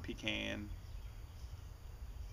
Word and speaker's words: pecan: pecans real peans he when people say pecan that sounds like something you put next to a sick person's bed it's a pean yeah well I think there's different ways to pronounce that name pean pecan and peans oh well M taste